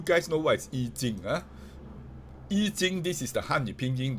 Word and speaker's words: Yijing: Yijing, this is the Hanyu Pinyin. The old name is called I Ching. We want to follow China's way, Pinyin way, and not I Ching, because that's the old pronunciation.